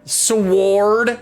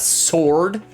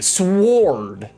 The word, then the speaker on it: Sward: Sward. Yeah, that's how you say it. That's how you pronounce it. It's not sword. There's a W in there. There's a W. Sward, you know, sward.